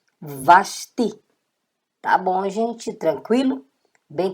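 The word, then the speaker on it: ושתי: Então, V com A, vá. Shim, com o chuvazinho aqui, ó. Sh. E o T, com o I, ti. Vasti.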